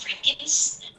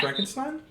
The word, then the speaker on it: Frankenstein: I think it's It's supposed to be Stein, but I think in Americans usually say Steen, like Uh-huh.